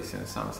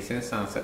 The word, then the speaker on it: Saint-Saëns: Bisognerebbe dire la S finale, effettivamente, anche se non ha una giustificazione grammaticale, nel senso che il cognome prende esattamente il toponimo di una cittadina del nord della Francia, che si chiama appunto Saint-Saëns, che si dovrebbe pronunciare come 500.